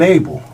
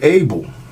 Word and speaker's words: Abel: Later she bore his brother Abel. Not A-B-L-E, A-B-E-L.